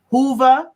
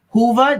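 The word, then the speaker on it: Whova: you're hearing my voice w-h-o-v-a dot com hoover i believe is the way they pronounce it it's one of the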